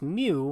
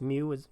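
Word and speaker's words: μ: And then this notation, pronounced mu, it looks like a U and like a cursive M kind of together. Pronounced mu represents the population mean.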